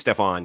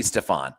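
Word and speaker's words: Stephon: pronounced his first name or is it stefan i think it's stefan gilmore how's he spelling s-t-e-p-h-e-n that's my middle name h-o-n might be stefan this could be stefan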